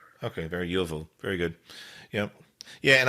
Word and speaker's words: Iovu: It's I as in India, Ovu, and a lot of people spell it, or they misspell it for I for L. So, but it's Iovu. Okay, very Iovu.